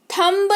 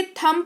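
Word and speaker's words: thumb: थंब नहीं पढ़ेंगे, थंब पढ़ेंगे यानी कि अंगूठा।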